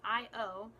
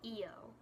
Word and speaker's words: Io: this name it's just IO I've heard it pronounced both IO and EO which both sound nice but I keep calling